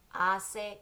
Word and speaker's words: hace: Remember, the H is silent in Spanish, so we say, hace calor.